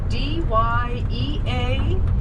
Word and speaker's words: Dyea: D-Y-E-A, pronounced Dyea.